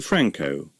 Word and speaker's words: Frankau: The family name was originally Frankenau, and became shortened to Frankau. If anyone mispronounced the AU ending, Ronald would respond with this handy aide-memoire. Frankau's the name, Cow's the wife.